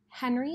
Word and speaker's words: Henry: Henry is French, and that's how you're supposed to say his name.